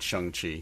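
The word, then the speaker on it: Shang-Chi: it they're saying yeah i heard an interview with the director and he was very clearly pronouncing it chung chi so yeah it actually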